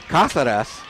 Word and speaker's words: Casadas: again number 36 again casadas casadas Kad you said it right the first okay I always try